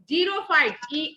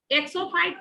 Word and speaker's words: xerophyte: अब नाउ जीरोफाइट, XERO, इसको zero ही बोलते हैं, प्रोनाउंसिएट करते हैं इसको जीरो, XERO। एक्सोफाइट नहीं कहते हैं, जीरोफाइट कहते हैं।